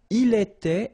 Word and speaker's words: il était: Il était, elle était, final T not pronounced.